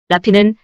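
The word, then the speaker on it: -rrhaphy: 자음 R이 두 개지만 R 하나로 발음해 주는 것. 라피는 봉합술 슈처 상처를 꿰매주는 시술법을 뜻합니다.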